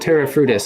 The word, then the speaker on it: Terra Frutis: indoors well yeah well we call it we pronounce it Terra frutos although I don't know what the actual Etruscan